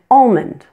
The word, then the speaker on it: almond: calm palm balm and almond many people do not pronounce the L in these words but you'll notice that I do both ways are perfectly